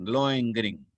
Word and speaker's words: Lohengrin: Por ejemplo, Lohengrin, Lohengrin, así como lo estoy pronunciando, Lohengrin, que es la historia de un caballero de